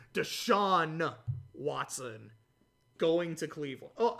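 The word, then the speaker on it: Deshaun: the shot one that i didn't pronounce the n i think i said deshaw or like deshad deshawn watson going to cleveland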